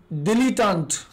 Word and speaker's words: dilettante: Next word जो हमने देखा था वो था डिलीटांट। डिलीटांट स्पेलिंग ध्यान रखिएगा, DILETTANTE, डिलीटांट।